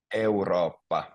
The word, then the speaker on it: Eurooppa: And then Europe would be Eurooppa. So there's two O's, two O's, and two P's. So Eurooppa.